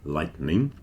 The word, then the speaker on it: lightening: as in thunder and lightning. The third one, which is often pronounced lightning because you don't really hear the E in the middle a lot of the time, that is from the